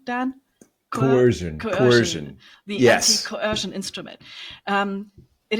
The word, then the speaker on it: coercion: Is that the right pronunciation, Dan? Coercion.